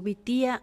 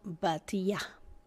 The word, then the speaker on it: Bitia: se puede pronunciar como vitía o batía en hebreo bate y Tab